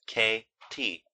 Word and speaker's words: Katy: "It is spelled Katie," Kate went on, "and is pronounced K-T.